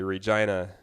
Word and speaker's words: Regina: And in Manitoba, we like to say Regina is the city that rhymes with fun.